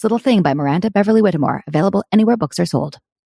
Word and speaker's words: Whittemore: has a hard time my last name is pronounced Beverly witmore got it Beverly Whitmore is my last name